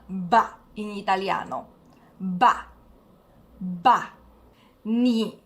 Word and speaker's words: 你: Ni significa tu, è del terzo tono. Ni.